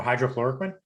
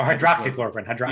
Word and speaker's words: hydroxychloroquine: How do you pronounce that word? Hydroxychloroquine or whatever that shit was? Oh, hydrochloroquine? Yeah, that is. Oh, hydroxychloroquine.